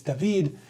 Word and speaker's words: David: 10-minute Drive South toward D which looks like the word David but you know in Spanish it's David you drop like three degrees